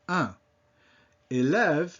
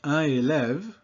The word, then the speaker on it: un élève: said that by itself, un. Élève means student or pupil. So when I say those two words together, I don't say un élève, I connect them, and then that makes that N pronounced.